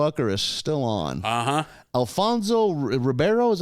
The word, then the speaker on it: Alfonso Ribeiro: that is still on uh-huh Alfonso Ribeiro is how he pronounce his name he's Carlton and Fresh Prince